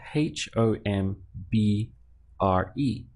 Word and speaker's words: hombre: man in Spanish is hombre spelled H om b r e but of course we ignore the H in our pronunciation and we start from